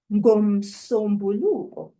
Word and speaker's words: ngomsombuluko: If we want to say on Monday, ngomsombuluko is what we have. We blended together the A of nga and the U of umsombuluko. Those 2 vowels, the A and the U, give us the letter O.